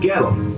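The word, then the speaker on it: Goettl: It rhymes with kettle, except it starts with a G and it's spelled really weird.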